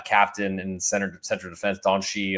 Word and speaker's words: Dante: in Center Central defense doni uh or spell Dante but I guess it's doni if you're pronouncing the way the Brazilians want to um totals two and